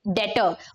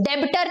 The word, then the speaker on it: debtor: तो आप बन जाते हो उसके डेटर। ओके, यहाँ पे हमें याद रखना है, ये बी साइलेंट है बच्चों, डेबिटर नहीं बोलना है आपको, इट इज डेटर, मतलब यू ओ हिम